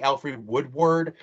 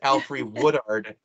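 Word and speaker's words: Alfre Woodard: say her name where i always want to say alfred woodward but it's alfree woodard woodard and i love her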